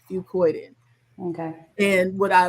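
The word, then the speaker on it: fucoidan: It's spelled fu c o i d a n. Fuccoidin.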